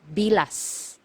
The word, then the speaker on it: bilas: one sister-in-law sister-in-law is bilas bilas so you you have to be very careful with this one MGA hiala you have to pronounce the letter S at the end because if you mispronounce